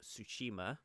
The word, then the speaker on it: Tsushima: samurai action game called ghost of Tsushima with the silent T and yeah just we